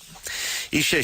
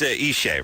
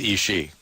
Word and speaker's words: Ishe: Ishe Smith is here tonight. Now, it is Ishe, right?